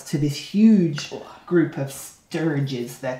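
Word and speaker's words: stirge: this huge group of sturges, they're called. Sturge. I think that's how you pronounce it. S-T-I-R-G-E. Sturge.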